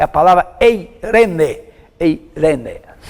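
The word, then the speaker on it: εἰρήνη: No grego moderno tem essa questão do, quando você pega um ditongo lá, você pega a última vogal, né? Irene, como se escreve a palavra.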